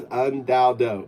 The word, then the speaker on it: UnDaoDu: It's pronounced Dao, somewhat like Tao and Taoism, Dao, right? Just with a D, not a T, right? And third, it's do, like do you like, do you find, but you don't spell it D0, you spell it DU.